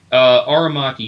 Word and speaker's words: Aramaki: front of me um Aramaki that's a are machi he plays are machi